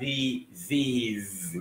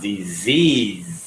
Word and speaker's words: disease: So, sẽ đọc là D thì là disease. Nghĩa mình viết S-E nhưng mà mình đọc D. Thì sẽ là disease.